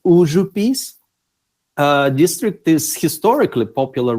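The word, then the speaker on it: Užupis: in the district of the same name pronounced as uzu peace uh district is historically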